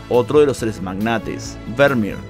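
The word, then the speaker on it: Vermeer: de los tres magnates vermier que en realidad Así como se pronuncia Así que a partir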